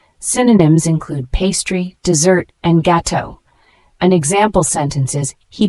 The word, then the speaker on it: gâteau: Let's pronounce it together, gâteau.